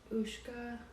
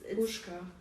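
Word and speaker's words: puška: Is it Ushka? Does that sound like a word? It's Pushka. Like babushka?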